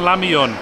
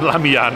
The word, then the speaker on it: lamian: Golden lamion. Or golden lamian, I just mispronounced it.